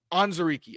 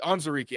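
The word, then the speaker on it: Onwuzurike: like Levi on um Ozariki. Yes. Um Anzariki. Anzariki. I looked it up yesterday. I wanted to make sure I was saying it right because he has the history with Terrell Williams.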